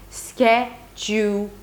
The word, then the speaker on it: schedule: The last 2 syllables have to be really, really quick. Schedule. So, schedule or schedule. By the way, this is the American pronunciation of the word schedule.